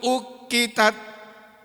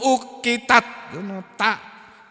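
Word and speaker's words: أُقِّتَتْ: Ya, kemudian wa idzar rusulu uqitat. Ya, Mas Wahyu. Apa namanya? Yanur, Mas Yanur ya. Bacanya uqitat. Uqitat. Kalau guru saya dulu ngajarinya uqitat. Enggak ada hames, enggak ada. Kalau sekarang pakai hames.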